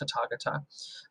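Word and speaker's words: Tathāgata: It's spelled like Tathagata, but it's pronounced Tathagata.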